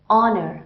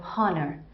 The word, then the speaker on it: honor: H is silent so in any word starting with H and if it is silent like honest I don't say honnest right honor I don't say honnor so all those words